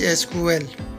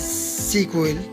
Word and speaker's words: SQL: SQL stands in a structured query language pronounced as SQL, sometimes as SQL.